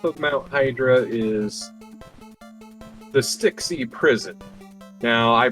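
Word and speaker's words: Stxy: Mount Hydra is the Styxy Prison. Now, I pronounced that weird because it is an actual grammar error in the game where it is misspelled, and it's not the key of Styx, it's Styxy.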